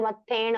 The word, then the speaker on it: मत्थेण: Pronunciation करोगे तो मत्थ एण, अगर आप बिना रुके एण बोलते तो मत्थेण हो जाएगा वो, है ना?